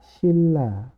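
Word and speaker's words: 신라: sinra jadinya n-nya berubah jadi l menjadi cara membacanya adalah Silla Nah teman-teman di sini kalau tadi bingung ya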